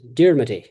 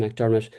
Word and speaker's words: McDermott: So, McDermott in Northwest Meath is always Dermody. Uh people might spell their name McDermott, but nobody ever calls them McDermott. They're always Dermody.